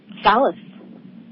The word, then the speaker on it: Salas: I didn't ask you ahead of time how to pronounce your last name to make sure I pronounce it right. Salas. Okay, Salas.